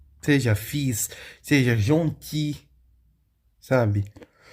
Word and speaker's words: gentil: l, seja fiz, seja jonti, sabe? Você não pronuncia o som do l, então não fica jontilha, que é o gentil, você fica jonti, tá?